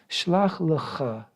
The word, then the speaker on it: Shlach lecha: Shlach lecha is how it's said in Hebrew, which means literally send to yourself or send for yourself.